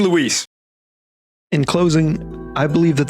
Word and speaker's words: Luis: fairly common name but Leon just can't be bothered to say it correctly and who might you be Lewis Lewis you have to get it back Justice for Lewis I mean Luis in closing I believe